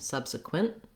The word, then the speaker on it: subsequent: abruptly so a very short end subsequent and then that makes you perceive and hear that t sound then we when we add l y to make it subsequently subsequently we add the lee syllable and uh i definitely want to make sure i do that stop t in that case subsequently i move my tongue to the t slash l position and then i release